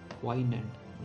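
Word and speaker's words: poignant: 14 number पे है क्वाइनेंट। ये जी जो है साइलेंट रखिएगा इसको, ठीक है। आप कैसे पढ़ते हैं डिपेंड्स ऑन यू, तो इसको साइलेंट रखिएगा।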